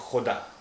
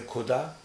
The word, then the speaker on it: खुदा: गरारा करते हैं की की आवाज जहां से निकल रही है वहीं से अगर हम निकालेंगे तो ये खा की आवाज निकलेगी तो खुदा ये खुदा खुदा और ये है खुदा